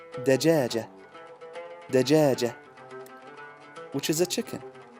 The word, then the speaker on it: دجاجة: is ja, and then the ta al-marbuta here doesn't have any vowel, so we're gonna pronounce it like a ha, which makes ha, which means dajaja.